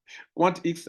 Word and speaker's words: QuantX: QuantX, vous voyez qu'ils ont mis le X en majuscule, non? Donc, ça veut dire que ça se prononce à pas, Quant et puis X.